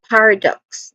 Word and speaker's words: paradox: When it comes to pronunciation, paradox, there's three distinct sounds starting with par which has a short a vowel sound and this is also the stressed sound or stressed syllable here. And then next to that is awa sound, a short weak and stressed a vowel sound. Then lastly we have ducks. So it ends with a hissing sound in the in the